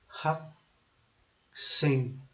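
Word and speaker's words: 학생: Haksing, H A K ang pronounce since dili siya kuan naguna na siya sa middle sa word.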